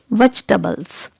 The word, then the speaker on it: vegetables: it is pronounced like vegetables vegetables here letter e is silent here so how will you pronounce it vegetables vegetables letter e is usually